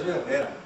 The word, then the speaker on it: Herrera: Aztlan is the equivalent of saying Herrera. I'm not Herrera, it's Herrera.